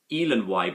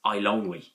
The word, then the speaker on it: Eilonwy: I kind of say Elanwy, but she's pronounced as Eilonwy.